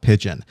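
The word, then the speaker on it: Pidgin: If you're a fan of consolidated instant messaging clients, then you probably already know about Pigeon. Here's Pigeon. It's purple and it's a pigeon except it's spelled pi d i n.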